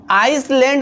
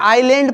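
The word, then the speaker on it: island: और हाँ, इसे आप लोगों को आइसलैंड नहीं पढ़ना है, आइलैंड पढ़ना है। क्या पढ़ना है दोस्तों? आइलैंड, आइसलैंड नहीं पढ़ना है। आइसलैंड जो है ये रॉन्ग प्रोनाउंसिएशन है, इसे हम लोग आइलैंड पढ़ेंगे।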